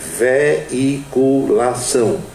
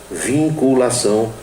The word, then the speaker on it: veiculação: Justiça Eleitoral para a sua veiculação e não vinculação, como algumas pessoas pronunciam.